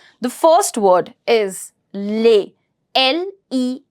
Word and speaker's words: les: this is a pattern when you put l e s together it is to be pronounced as Le that means e s is going to be silent s is going to